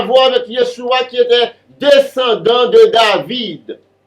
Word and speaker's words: Yeshua: Ce Jésus n'a rien à voir avec Yeshua qui était descendant de David. Son nom, c'est Yeshua, ou Yahshua, ou Yahushua, dépendamment de gens voulaient prononcer là.